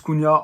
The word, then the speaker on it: Cunha: youtube aujourd'hui on va parler de ma douce cunha on va juste vérifier ça se passe bien